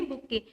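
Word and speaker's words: bouquet: अब जो फ्लावर्स का जैसे ये पिक्चर में दिख रहा है, इसको हम क्या बोलते हैं, क्या प्रोनाउंस करेंगे, बुके।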